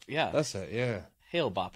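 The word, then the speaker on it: Hale-Bopp: It was it Halley Bopp? Wasn't it? Comet Halley Bopp. Hale Bopp. Yeah, that's it. Yeah. Hail Bop, I believe is how it's said.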